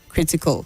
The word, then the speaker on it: critical: The AL at the end takes a weak sound, so you say sentimental, gradual, critical, not sentimental, gradual, and critical.